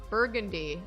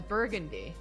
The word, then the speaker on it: Burgundy: Someone just said that in New Orleans, you pronounce Burgundy as Burgundy.